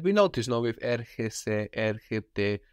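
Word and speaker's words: έρχεται: Erchete is he comes, she comes, it comes. Erchete. Erchete. And we notice now with erchese, erchete, that the ch is softened by that e.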